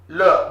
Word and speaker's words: le: As I said, when there is an accent, it goes up. Le. This is, okay, not li. This is not li. You will have the English influence. Don't say it's li. This is not li. Le.